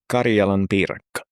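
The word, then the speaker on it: karjalanpiirakka: I'm glad it's you doing the pronunciations. Okay. It's Karelian pie, but it's called Karjalan piriraka. Karjalan piirakka.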